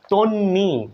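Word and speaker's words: তন্বী: কিন্তু বচ্চারণ হচ্ছে না তন্নি এখানে দেখুন ন টা ডাবল হচ্ছে বন্ধুরা ব ফলা কখনোই উচ্চারিত হচ্ছে না তন্নি তাহলে বন্ধুরা এখানে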